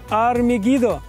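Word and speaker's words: הר מגידו: деле ВС гораздо проще Армагедон на иврите произносится как Ар мегидо гора мегидо действительно именно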